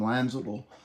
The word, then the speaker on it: Lanzadel: We gotta pick up Tom Lanzadel. The D is silent.